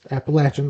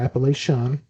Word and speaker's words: Appalachian: Is Appalachian, not Appalachian. That's always a big topic in North Carolina.